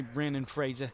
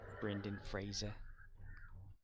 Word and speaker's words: Brendan Fraser: come after me if you come after me Brandon Fraser Brendan Fraser did you see that in like a Family